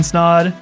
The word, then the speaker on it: Snaadt: but um for now my name is snod it rhymes with a lot and you're listening to